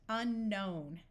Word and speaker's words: unknown: a prefix and the K will still be silent unknown in this word we